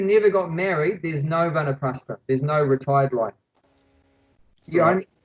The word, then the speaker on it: Vanaprastha: If I pronounce that correctly? Yeah, Vanaprastha.